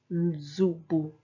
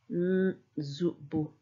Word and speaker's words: nzubu: It makes it seem like the N is silent, but it's there right at the start, but the preceding consonant is stronger. Z. N. Nz. Nzubu. Nzubu.